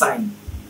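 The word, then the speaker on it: sign: সাইন, এস আই এন, সাইন। এই যে আইন, এ আই এন, আইনের মতো যদি হয়ে যায়, শব্দের শেষে যদি আই জি এন থাকে তাহলে জিটা সবসময় সাইলেন্ট হয়ে যায়।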